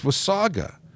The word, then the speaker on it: Wasaga: from Osaka I said is it was Sega or was Saga and it's Wasaga and I will I will make sure I always say it correctly now thank you very much John was Saga not with Sega but so many people say Wasaga Beach this was Saga I